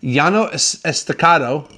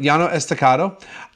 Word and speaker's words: Llano Estacado: to the next set of wines alright so yano estacado or as probably most of the texans hearsay